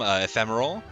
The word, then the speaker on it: Ephemeral: With me today is you know him, you love him, Ephemeral. Woo! That's me. Also, my name is pronounced ephemeral. It's also a word, like an English word.